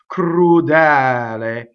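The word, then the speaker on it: crudel: So in this case, the word we're on right now is crudɛl. It's stressed and it's open.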